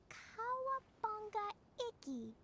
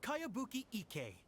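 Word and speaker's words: Kayabuki Ikkei: By Kawabunga Iki. Yoimiya, this is a really strange name. Kawabunga. Who's this Kawabunga? It's pronounced Kayabuki Ike.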